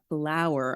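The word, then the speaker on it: Phlour: I So my partner grabbed uh paczki from L'Oven on Bryn Mawr um p h l o u r.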